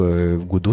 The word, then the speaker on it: Godot: de moteur Godo donc Godo ça s'écrit comme ça g d o T et c'est un moteur